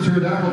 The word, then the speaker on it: pterodactyl: you didn't hear the pterodactyl joke okay yeah I haven't heard the pterodactyl go to the bathroom because they're a state because the pee is silent so he has